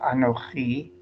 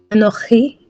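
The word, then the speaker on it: אנכי: Let's get the chaf rather than a kaf. Anochi. Anochi.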